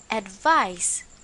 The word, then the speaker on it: advice: or recommendation someone offers it is pronounced as advice with an S examples thank you for